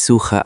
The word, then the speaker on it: suche: Ich suche ein Zimmer. Great. Notice suche has the hard ch because it follows u.